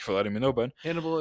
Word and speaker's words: Hannibal: Hannibal is rhymes with cannibal, so Do you think that he thought that people tasted like chicken?